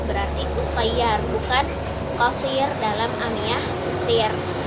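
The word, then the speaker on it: قصير: Nah terus dalam Amiyah Mesir terdapat wazan ini seperti qasir, yang biasanya qasir artinya sedikit, itu menjadi usayyar karena qaf diganti menjadi u jadi alif kan u berarti usayyar bukan qasir dalam Amiyah Mesir.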